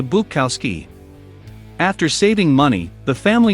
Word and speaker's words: Bukowski: To sound more American, Bukowski's parents began calling him Henry and altered the pronunciation of their last name from Bukowski to Bukowski.